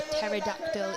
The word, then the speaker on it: pterodactyl: you not hear a pterodactyl in the toilet because whatever's happening in that toilet is then no because the p is silent you can tell you're